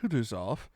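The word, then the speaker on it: Kutuzov: prince said anna pavlona general kudusov said bulkonski speaking french and stressing the last syllable of the general's name like a frenchman has been pleased to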